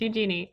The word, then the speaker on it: Eugenie: It's Eugenie.